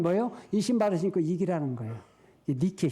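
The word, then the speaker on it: Νίκη: 나이키가 니키에 온 거예요 니케의 영어 발음이 나이키 그래서 나이키는 승리의 여신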